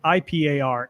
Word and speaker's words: Ipar: It's IPAR. Ipar is how you pronounce it.